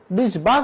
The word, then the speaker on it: বিশ্বাস: রয়েছে শব্দের মাঝে তাহলে শব্দের মাঝে যদি বফলা থাকে তাহলে বফলা উচ্চারিত হয় না কিন্তু যুক্ত ব্যঞ্জনে বৃত্ত হয় কাসে যুক্ত হয়েছে তালবর্ষার সাথে তাহলে আমার উচ্চারণ করতে হবে বিশ্বাস বলা যাবে না বিশ্বাস বিশ্বাস বলা যাবে না বলতে হবে বিশ্বাস বিশ্ববে না বিশ্ব বিদ্বান